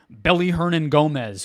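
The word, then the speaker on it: Willy Hernangómez: I was sitting here telling you Belly Hernan Gomez, who I don't even think you probably knew the W is pronounced like a B in his name, that he should be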